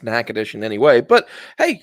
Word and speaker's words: Natchitoches: I mean, like, there's a town in Louisiana that's spelled Natchitoches, but most people call it Natchitoches. Yeah. I'm like, I don't understand that. I don't see how that could be pronounced Natchitoches in any way.